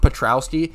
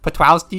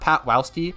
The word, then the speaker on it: Petrowski: Obviously, I love Petrowski. My second most common is Petwowski. Because it just... How cute... Come on, dude. Petwowski. You gotta say it like that. Not Patwowski, but Petwowski.